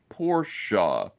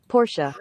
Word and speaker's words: Porsche: that's right that's correct the e at the end in German it's not you know so I you know here it is automobile manufacturer sounds like Porsche Porsche oh thank you and